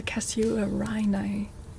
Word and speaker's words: casuarina: Casuarina. No, not at all like that. It's spelled like this.